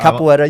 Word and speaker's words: capoeira: Capoeira, you said it right. Capoeira. Yep. You got to put a little inflection in there. You do need a little bit of that, yeah.